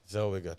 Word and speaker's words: Zellweger: Zellweger. I pronounced it like Schwarzenegger. Zellweger.